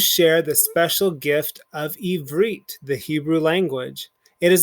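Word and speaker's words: עברית: figure out our keywords this is our first syllable here this is our second so it's going to be eve evreet and evreet means hebrew and here we see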